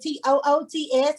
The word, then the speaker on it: Tuts: for so long but when i spell it t-o-o-t-s everybody say toots she's like it's not